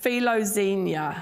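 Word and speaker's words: φιλοξενία: that verse it's a Greek word and it's pronounced filozenia and it's the word filo for love and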